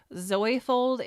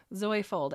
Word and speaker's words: Zoyfold: Zoyfold is spelled Z-O-Y for Zoe. Zoyfold, and there's a reason for that.